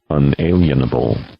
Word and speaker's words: unalienable: John listen to this this is what the dictionary pronunciation of unalienable is ready unalienable unalienable so there you